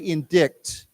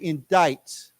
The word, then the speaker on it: indict: is to chisu okay this letter here C we do not pronounce we don't say indict we say indict like it's like it